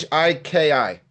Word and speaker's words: Shiki: highball sh shik Shiki Shiki how do you spell it sh sh i k i Shiki oh Shiki hiball okay so this one